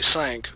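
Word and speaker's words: Cinq: uh C NQ is French for five it's pronounced actually sank but we're Texans and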